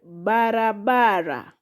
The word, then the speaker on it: barabara: Then we have the word barabara. Barabara. Barabara. Ba-ra-ba-ra. So the syllables are ba, ra, ba, ra. How many are they? 4 syllables.